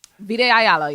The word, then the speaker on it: Vita Ayala: Well, before we get out here, I also got to give a big shout out to Vita Ayala. Do I pronounce their name right? Vita Ayala, yes.